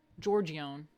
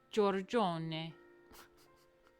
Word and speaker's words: Giorgione: I was calling him Giorgione. I'm such a fucking New Yorker, man. Giorgione. Hold on, I gotta hear it again. Do we have the correct pronunciation? Giorgione.